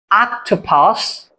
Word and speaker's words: octopus: বাট এটা সঠিক উচ্চারণটা কি হবে? কি? আ আক আক টো পাস। Octopus.